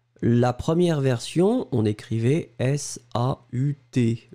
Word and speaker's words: saut: La première version, on écrivait S-A-U-T, le T n'était pas prononcé, c'était exactement la même prononciation, saut.